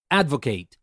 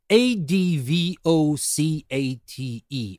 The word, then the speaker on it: advocate: by by the way here I'm pronouncing it advocate because it's a verb if it is a noun we would say Advocate but that's not the